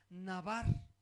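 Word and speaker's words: דָּבָר: Fíjate, la palabra que se tradujo por palabra aquí es la palabra hebrea navar, igual con acento en la segunda.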